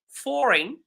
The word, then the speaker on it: foreign: how we write awkward foreign you can see foreign there is a gn in the end but it's not fully pronounced neighbor by the way even neighbor it has a gh that is silent neighbor.